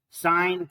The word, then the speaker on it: sine: Anyhow, like I said, this is pronounced sine, this is pronounced cosine, this is pronounced tangent.